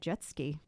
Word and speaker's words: Jetsky: By the way, Ned Jetsky. That's how you say it. Yep. Like jet ski.